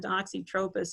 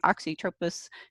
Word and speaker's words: Oxytropis: I always told myself it'll poke your eye out because it's got a sharp little point on it, and Oxytropis rhymes with poke.